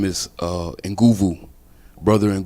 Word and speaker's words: Nguvu: prayers man greetings uh my name is uh enguvu brother and goovu and you spell it n-g-u-v-u and it is a west african